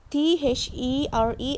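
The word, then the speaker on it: they're: The short form for they are, T-H-E-R-E, apostrophe R-E, we pronounce it as there. There on the mat.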